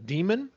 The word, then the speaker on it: Daemon: They're written by Daniel Suarez, and it's the first one is called Demon, and it's spelled Daemon.